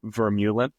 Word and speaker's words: Vermeulen: it's different in America I just say kind of like it looks it's verula like Mew as in like take the E out just Mew um in